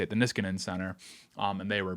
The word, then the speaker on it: Niskanen: Well, it's by the Nish uh Nisk Niskanen, I think is how you say it, the Niskanen Center.